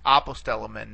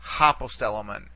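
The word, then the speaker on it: ἀποστέλλομεν: And again, notice the smooth breathing mark here to begin the word. It's apostelomen, not hopostelomen.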